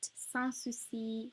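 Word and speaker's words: Sans Souci: every social media platform at san susi music and sponsor c spelled s-a-n-s-s-o-u-c-i-s because yeah loads of people misspell it but also see music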